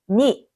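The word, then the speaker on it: ニ: 일본어로 뭐라고 한다고요 그렇죠 니 숫자 2는 일본어로 니라고 읽습니다 가타카나 니는 숫자 2를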